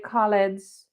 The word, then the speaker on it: Khaled: if the snap code you can see dj khaled's snap code there it only has the little